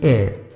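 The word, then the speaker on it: heir: here a TIR air the pronunciation will be air it means inheritor twisted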